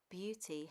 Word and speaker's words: beauty: Now you might say that beauty has EA in that word too, but that is not pronounced as a long E sound, and I imagine it's because of the U.